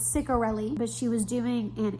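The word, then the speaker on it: Ciccarelli: I just read a scene and I'm like, you know, you know, also I was definitely saying her name wrong. It's Kristen Cichorelli. I was saying Ciceroelli. It's No, it's Cicorelli.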